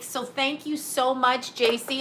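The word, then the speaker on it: Jaci: thank you so much jc i think you pronounce it jc this is her right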